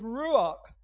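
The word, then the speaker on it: רוח: it's it's rock now i can't pronounce it right i don't have the tongue for the kh which is very guttural but it's ruach and it's it's a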